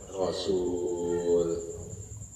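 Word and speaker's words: رسول: Kamu jadi berani ala qatlir rusuli, untuk membunuh para rasul. Kalau rusul itu kagak ada wawunya, berarti bacanya rusul. Kalau ada wawunya rasul.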